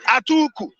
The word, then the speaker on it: Atiku: No, that's the real pronunciation in Hausa language. Atuku.